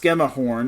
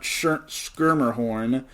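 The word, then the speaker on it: Maddie Schemmerhorn: It's actually pronounced Skemahorn, not Skirmerhorn. I'm mixing her up with the beach volleyball player.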